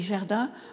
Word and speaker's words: Gerda: Je m'appelle Gerda, ça se prononce Gerda, mais en France on dit Gerda, un peu comme Germaine, voilà, c'est facile à prononcer.